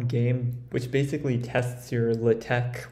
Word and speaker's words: LaTeX: which basically tests your latex or law Tech skills uh I pronounce it litek at this point in